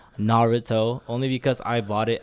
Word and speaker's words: Naruto: So I dressed as Naruto, or let me say it correctly, Naruto, only because I bought it at Shinobi Zato in Japan.